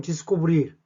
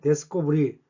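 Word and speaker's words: descobrir: 혹은 발음은 디스코브릴 혹은 데스코브릴 두 발음 다 존재합니다.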